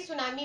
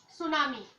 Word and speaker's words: tsunami: तो ऐसे ही अभी हमें क्या पढ़ना है, सुनामी। सुनामी देखिए TSUNAMI, तो सुनामी नहीं पढ़ेंगे, टी साइलेंट होता है, इसीलिए हम इसको टी नहीं बोलेंगे, एस से शुरू करेंगे, मगर इधर लिखेंगे टी से।